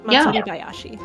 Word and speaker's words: Matsuribayashi: Is that how you pronounce it? Yeah, Matsuribayashi.